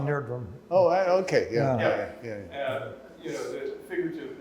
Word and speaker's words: Nerdrum: Nerdstrom, is that how you pronounce it? Odd Nerdrum.